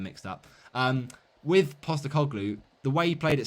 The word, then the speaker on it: Postecoglou: Ange Postecoglou. There you go. I knew it, but I just got the surname and first name mixed up. With Postecoglou, the way he played at Celtic, it's very